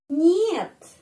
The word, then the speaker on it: нет: Tidak, itu нет, нет. Kata нет, kalau kita no, ya, no, it is not a palace. No, atau нет. Pengucapannya seperti dalam kata monyet, ya.